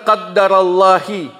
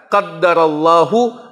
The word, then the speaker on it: qaddarallahu: penggalan hadis ini atau Dengan mengatakan qaddarallahi itu juga kesalahan itu mesti dipahami dengan baik cara bacanya qaddarallahu atau qadarullahi wayaa fa'al